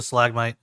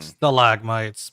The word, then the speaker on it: stalagmite: Nope, might is the correct one. We figured No, that out. might is the correct one because the best way to remember it: T's hang down, M's spike up.